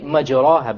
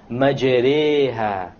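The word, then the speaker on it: مجراها: If you were to not know what an imala is, you would say مَجْرَاهَا, but that's a mistake. You have to pronounce it with an imala.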